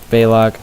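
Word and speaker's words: Baleog: being sarcastic I am actually going to have balog that is how you say it he's dead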